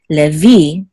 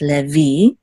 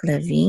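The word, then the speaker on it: לֵוִי: together will say v, levi, and the accent is on the last syllable, so it's levi. Okay, this is the accent mark, levi, instead of Levi in English.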